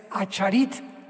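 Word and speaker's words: אחרית: Postreros es acharit, así como suena con CH, se pronuncia acharit, acharit, y tiempos o días son yom, Y o M de mamá.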